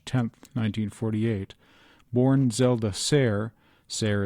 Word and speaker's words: Sayre: Zelda Sayre Fitzgerald, July 24, 1900 to March 10, 1948, born Zelda Sayre, Sayre is pronounced to rhyme with fair, in Montgomery, Alabama, was an American novelist and the wife of writer F.